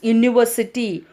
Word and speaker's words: university: So whereas here look at this university. What is the sound? University. The U at the beginning of the university sounds like U. So the sound is U here. So this is a consonant sound.